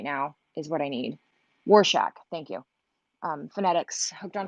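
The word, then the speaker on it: Rorschach: I know, but I need a phonetical pronunciation right now, is what I need. Warshak, thank you.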